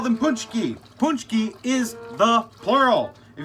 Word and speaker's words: Pączki: We call them Pączki.